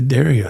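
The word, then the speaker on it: D'Addario: I got a hat from their site that says Dario. Okay, that's interesting, man. That's interesting. The Dario. There you go. So, that explains that's how it's pronounced.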